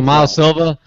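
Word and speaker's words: Miles Silvas: a mainland would be miles Silva miles grant miles yeah we also watch the last thing it's so this not Silva's yeah yeah you just you you the S is silent so mile Silva that mile Silva go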